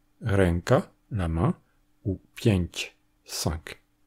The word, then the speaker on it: ręka: C'est ce que l'on a en polonais, devant les consonnes occlusives et affriquées, avec des mots comme "kąt", le coin, "krąg", le cercle, "ręka", la main ou "pięć", cinq.